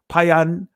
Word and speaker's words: Phineas: and she bare him Phineas, Payanakas, or Payanakas, right? That's the ancient pronunciation of Phineas.